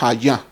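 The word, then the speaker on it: היה: Yo soy se pronuncia hayá, que significa existir, ser o llegar a ser.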